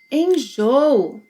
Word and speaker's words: enjoo: Enjoo. Enjoo. Here we have 3 syllables. Enjoo. Enjoo. The second O is often reduced to U.